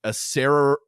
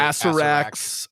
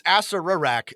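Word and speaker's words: Acererak: of Horrors light, as a Sararak. I don't actually know how it's said, but I always say Asarak. Asarak has a little clone. Sorry, it's Asararak. That's right. So there's another R in there.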